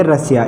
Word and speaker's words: Russia: का उच्चारण क्या हो जाए, इस एस का उच्चारण क्या होगा, से हो जाएगा। यानी इसको हम क्या पढ़ेंगे, रसिया।